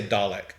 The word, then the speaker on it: Dalek: dialect a homemade dollar how do you say dalek or delic i say dalek okay i know that they're british so they